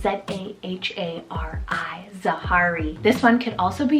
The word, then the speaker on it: Zahari: Then for my second and very final name on this list, for the letter Z, I love Zahari, spelled Z-A-H-A-R-I, Zahari.